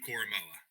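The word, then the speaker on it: Koramoah: this so you can tell me if i pronounced it correct jeremiah coramoa is that right you did great dude you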